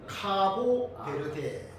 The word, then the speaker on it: 카보베르데: 뭐 비슷합니다.네 코티아 키보 베르 아닙니다. 카보베르데. 정확한 발음은베르데.